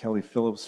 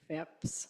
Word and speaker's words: Fipps: a second delegation tonight Phillips from K9 and Viral Group Go ahead, Miss Phillips. It's actually It's actually Fipps.